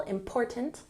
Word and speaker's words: important: How important, emphasize the second syllable, important, is money for you?